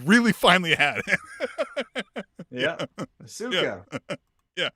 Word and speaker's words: Asuka: That we had been pronouncing Asuka incorrectly for about 20 weeks straight, and she'd really finally had it. Yeah, Asuka.